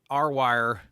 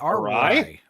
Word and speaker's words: awry: taken over by little mechanical dogs that went R-wire. R-wire? You crazy. They went crazy. How do you say it? Haywire? Haywire. No, like Haywire. A-R-W-Y? A-W-R-Y? Awry?